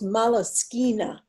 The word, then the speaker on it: Moleskine: In the art world, we call those moleskina. Oh, is it? Yes. Moleskine. I don't think I've ever heard like it that. pronounced out loud. Sounds Italian.